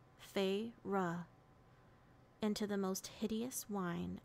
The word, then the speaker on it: Feyre: She fixed her wide eyes on me and said, "Please, Feyre." She drew out the two syllables of my name, Feyre, into the most hideous whine I'd ever endured.